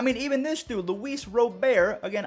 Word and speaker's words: Robert: even this dude luis robert again i call him robert because that's how he says it's pronounced but a lot of